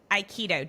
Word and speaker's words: Aikido: But I want to hear about how did you get into Iikido? Did I pronounce that correctly?